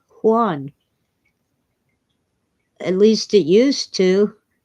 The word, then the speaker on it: Juan: Oh, but J is Hota. It sounds like H. Juan.